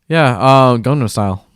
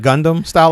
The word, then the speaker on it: Gangnam Style: Oh yeah, Gangnam Style. See, I always pronounce it wrong. I want to call it Gundam style, like Gundam Wing, but if only it would make it so much better.